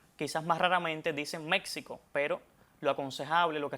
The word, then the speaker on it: México: Lo más aconsejable escribirla con X, pero a la hora de pronunciarla es con J.